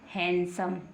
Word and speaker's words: handsome: HAN, डी को हमने silent कर दिया, छुपा दिया, और ये क्या बन गया, सम, हैंडसम। क्या बन गया, हैंडसम। क्योंकि डी को हमने इसमें नहीं पढ़ा है।